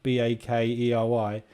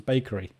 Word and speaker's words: Bakkarry: But in the UK, we spell bakery, BAKERY, which is exactly what your name is, but with an E in it. So pronunciation in English is bakery. Or bakery. I don't know. Bakery. There we go.